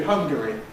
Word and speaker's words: Hungary: The name of the country Hungary is a case in point. Because if you compress it, it results in hungry, which means something else.